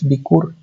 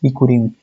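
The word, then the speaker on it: בִּכּוּר: And this is the word to write this one in Hebrew, and the way to pronounce it is bikur, and the plural is bikurim.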